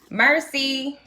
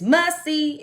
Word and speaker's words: merci: Mercy. They had to correct me. I know how to say it now because I've been corrected so much. Mercy is thank you. But it's messy, like messy.